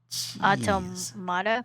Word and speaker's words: Automata: Automata.